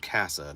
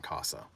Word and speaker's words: Casa: called CA NOA and it is called cassa not Casa um you'll find that